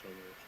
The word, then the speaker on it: Somers: Uh, we're gonna start out with Suzanne Summers or Somers. I believe it's pronounced Somers.